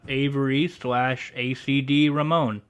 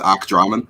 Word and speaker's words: ACDramon: really awesome SL badass slash killer illustrator uh aacd Ramon hey what's going on all right did I